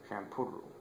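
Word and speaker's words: Shampuru: Oh, looks like his name's not Pow Pow, it's Shampooru. Shampooru. Yeah, that's how you say it.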